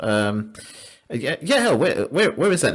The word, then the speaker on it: Yael: So that that's great stuff there Yael. Um Yael, where where is that name from? Yeah, and you're pronouncing it very beautifully.